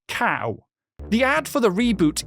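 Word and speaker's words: Kao: a boxing kangaroo with a name spelled like this and it is pronounced cow. The ad for the reboot even has the phrase ko in it. Seriously, cow.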